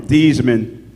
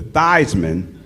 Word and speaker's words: Theismann: You got to know he changed his name from Theismann to Theismann to rhyme with Heisman.